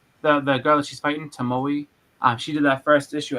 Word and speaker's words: Tomoe: Is it pronounced Tomoe? I think so, yeah, Tomoe. I always say Tomo. Me too, but I think it's Tomoe.